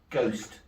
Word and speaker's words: ghost: He spelled it with a silent H. Ghost.